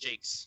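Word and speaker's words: Jacques: jocks Jakes is it pronounced Jake J it's pronounced Jakes cqes or whatever it is yeah yeah yeah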